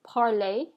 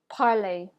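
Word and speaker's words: parler: so where that ends in the ER is going to have the same ending sound as a word that ends with the E and the axon tegu all right so I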